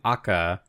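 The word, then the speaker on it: Acca: So he's saying Aka is his name, which is the Italian pronunciation for, I guess, the letter H.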